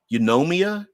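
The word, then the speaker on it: Eunomia: and I'm going to put you this the pronunciation is um yomia euu n o m i a uh yomia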